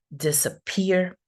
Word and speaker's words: disappear: So we have this example, the word disappear. So see that the primary stress is here, disappear, but we're going to have another less prominent stress in disappear.